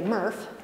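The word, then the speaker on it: MRF: materials recovery facility quality affectionately known as a Murph rhymes with Smurf they take the material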